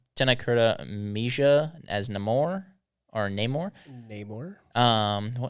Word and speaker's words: Namor: Tennera Mija as Neore or Neymar. Neymar. Um, well, in the movie he pronounces it Namore.